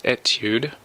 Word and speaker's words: Etude: This is called the Belomo Etude, or Etude. I believe the proper pronunciation is Etyude, but this is it.